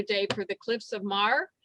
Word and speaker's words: Moher: for the Cliffs of Moher. Is that how you say it? Yeah, Moher, Cliffs of Moher.